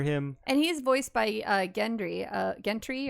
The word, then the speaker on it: Gendry: And he's voiced by Gendry, or I always say it wrong. Gendry. I was right the first time.